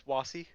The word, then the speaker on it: Wasi: So I'm gonna in my head say that Wayside knows. Also, David, am I pronouncing that right? No, it's Wasi. Wasi. As in Wasituya.